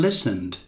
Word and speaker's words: listen: Thompson sat up in bed and listened. A senhora Thompson se recostou na cama e escutou. Aqui não pronunciamos o T.